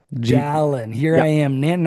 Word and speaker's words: Dallyn: How do I pronounce her last name? Dallyn. Dallyn.